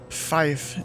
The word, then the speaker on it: five: supposed to say four Fife is how you say five six over six Seven's just seven eight it's basically just eight and a Niner 99.